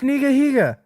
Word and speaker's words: nigahiga: that's his name right no dude it's nigahiga nigahiga yeah i'm gonna bleep that out that nigahiga oh no i've been pronouncing that wrong my whole life anyways it's nigahiga and